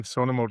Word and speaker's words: Snuneymuxw: So I'm curious about the name Snuneymuxw if I'm pronouncing that correctly. What what was the influence behind that and where did that come from? Yeah, yeah, thanks. Yeah, you are saying it correctly Snuneymuxw.